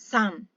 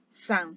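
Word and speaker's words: さん: they are after it becomes uh japanese it's sun sun yeah the pronunciation pronunciation tongue is slightly different okay some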